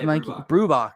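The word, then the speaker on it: Brubaker: Yeah, Brubacher. Good pronunciation.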